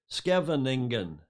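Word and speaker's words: Scheveningen: and he is in i've learned how to pronounce this julia this is you like skippol airport it's kevin negan skevening so apologies to anybody who speaks dutch better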